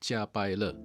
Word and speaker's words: Jiapaile: Yes, it is pronounced Jiapaile.